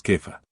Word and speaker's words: Kefa: que algunos dicen cefas busqué una cosa de pronunciación una vez hace años porque no me gusta este stus estus suena estúpido lo siento es que no me gusta pero kefa suena en realidad más cercano a cómo se llamaría en hebreo o arameo en esas lenguas mediterráneas y en realidad hay un argumento la pronunciación es kefa así que allá vamos